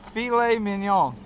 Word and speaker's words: filet mignon: be throwing those fish away say it babe filet mignon filet mignon there you go backstroke adding to